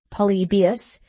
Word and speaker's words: Polybius: Hadrian, Trajan, and the Antonines, stumbling at Polybius, pronounced Polybius, and supposed by Mr.